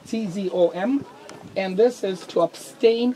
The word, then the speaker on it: tzom: In Hebrew, it's actually tzom, T-Z-O-M, and this is to abstain from drinking water. Okay. Any liquid. Water. Spell it Okay. again. T-Z-O-M. T-Z. Because you don't have th sound in English, it's T-Z.